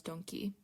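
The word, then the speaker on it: ドンキ: Two very well-known buildings, or landmarks even, of the Akihabara district are Radio Kaiken and what is pronounced locally as Donki.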